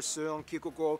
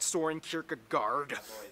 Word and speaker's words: Søren Kierkegaard: Hans Christian Andersen, philosopher Søren Kierkegaard, or whether- How do you pronounce his name? That's actually how you pronounce his name. Wow. It's not Søren Kierkegaard.